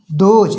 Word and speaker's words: those: THOSE, दोज, यहाँ देखो TH को दा पढ़ेंगे, दोज, दोज मीन्स बे या बो, दूर के कुछ कोई वस्तु या लोग, उनको बोलेंगे बे या बो।